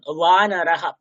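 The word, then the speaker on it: वानरः: ওয়ানারাহা, আপনারা উচ্চারণ করুন, ওয়ানারাহা, নট ব, ইটস ওয়া, ওয়ানারাহা উচ্চারণ করুন।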